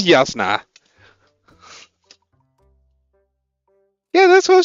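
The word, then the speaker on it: Jasnah: Also, I'm sorry, in Dutch there's not a difference between the Y and the J. So we pronounce them the same way.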